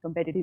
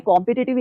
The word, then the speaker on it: competitive: की जो एग्जाम्स हैं, कम्पिटिटिव एग्जाम्स हैं उनके लिए। अब आप सोचते होंगे कि भाई मैं कॉम्पिटिटिव एग्जाम्स क्यों नहीं बोल रही हूँ, क्योंकि इसका प्रोनाउंसिएशन कम्पेटिटिव है, कॉम्पिटिटिव नहीं है।